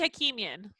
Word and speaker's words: Hakimian: How do you pronounce Hey. your last name? Hakimian. Hakimian.